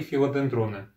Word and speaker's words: филодендроны: В этом видео я хочу вместе с вами размножить свои филодендроны. Филодендроны, правильно. Ударение на «е».